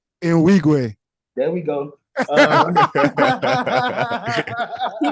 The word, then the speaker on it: Nwigwe: I can't pronounce his last name, but his name is like Toby Ngwe or something like that. And he has a song called, what's his name? Nwigwe.